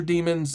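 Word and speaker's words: daemon: For example, long-term support dros like Debian may ship with outdated sensor demons in their repos.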